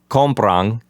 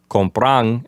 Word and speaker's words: compran: and that gives us compran, and the accent for that form is going to be on the first syllable. So instead of compran, it's going to be compran.